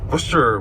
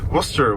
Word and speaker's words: Worcester: Worcester, which is pronounced Worcester, which a lot of people don't know cuz